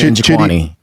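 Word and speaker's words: Njokuani: Chidi Njokwani.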